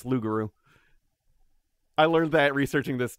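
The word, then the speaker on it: loup-garou: we say loop the p uh no it's lugaru i learned that researching this too uh you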